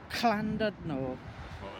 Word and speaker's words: Llandudno: We're at Llandudno. You've got to get the pronunciation right.